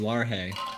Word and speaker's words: Largay: Largay to the corner office. He's Hispanic. It's Dr. Largay. Actually, it's technically Larhay because the G is pronounced with an H sound.